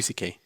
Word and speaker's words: C.K.: It's pronounced CK, but it's spelled Seal Salki.